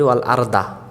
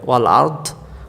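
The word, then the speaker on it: وَالْأَرْض: ওসিহ সামাওতি ওর হ্যা আরদা আমরা অনেকে পড়ি ও আরদা আরদা আরদা পড়লে ভুল হয়ে যাবে আরদ এটা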